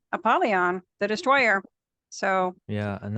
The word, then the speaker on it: Apollyon: And he wanted to make sure that we knew exactly how to pronounce this in the Hebrew. And it is Apollyon, and it does mean destroyer.